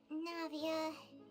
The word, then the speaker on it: Navia: Is it your turn to take care of Navia now? Oh, that's how you pronounce the name.